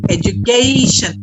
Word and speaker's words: education: education very good education here also a is to be said with the diphthong ae education let's all repeat this